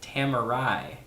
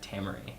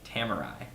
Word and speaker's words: Tamarai: She says it's Tamarai, not Tamaray, Tamarai.